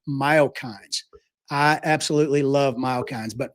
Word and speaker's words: myokine: body as a result of muscle contractions called myokines.